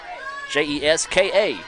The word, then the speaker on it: Jessica: here - Jessica Davis traditional spelling of Jessica but likes to be called Jessica Jes ka is now we put it on the pronunciation guide as she fouls that